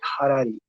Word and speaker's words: Harari: Se lo puede pronunciar Harari porque está con H, para nosotros la H